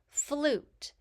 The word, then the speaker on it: flute: Flute. Here we have a blend at the beginning of the word, so we hear F, U, U, T, and the E is silent.